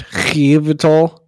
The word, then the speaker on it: Yveltal: It's Yveltal. Pronunciation.